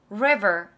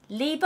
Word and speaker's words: river: 오늘 R 발음 배운 게 좀 이따 내가 정리해 줄 건데 리버 아니에요. 한 리버 아니에요. 리버 아니에요. 리 아니에요. River. River. 그렇죠. 리 발음이에요. 리. 근데 그게 목에서 나와야 돼요.